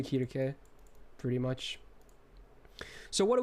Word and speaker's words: Circe: If you want to say Circe or whichever, that's fine, but I've used, because Japanese it's Kirke, okay? I'm just, yeah, okay. Apparently it's not even close to the original Greek pronunciation, but you know what?